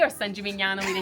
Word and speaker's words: San Gimignano: Siena with a C or San Gimignano with a ñ. San Gimignano.